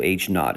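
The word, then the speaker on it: H₀: Our null hypothesis, noted by H sub 0, so H naught is usually how it's pronounced, is a statement of no difference.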